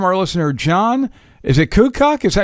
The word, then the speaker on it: Kukuk: Is it Kukuk?